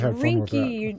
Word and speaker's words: Rinkney: No, you got it wrong again. It's Rinky.